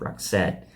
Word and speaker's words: Roxette: she didn't exist uh so he created the name because he wanted two syllables with the accent on the second syllable and this is what